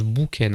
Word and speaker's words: Boken: savais pas que boken Parce que c'est boken. Et ça se prononce boken apparemment.